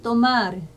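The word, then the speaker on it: tomar: 그 다음에 때는 또마르, 이것도 테 아니고 때예요. 또마르, 또까르.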